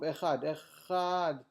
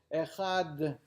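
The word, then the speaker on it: אחד: A person should prolong his pronunciation of the ches of Echad, in order to pronounce God as king in the heavens and on earth and the earth.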